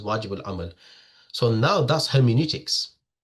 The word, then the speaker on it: hermeneutics: So that's pronounced as hermeneutics.